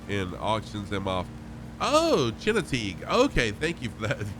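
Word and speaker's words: Chincoteague: just going to fly over it no the chino teague vfc keeps a herd of wild ponies on an island they swim across once a year and auctions them off oh china teague okay thank you for that pronunciation viper chinook the big post thank you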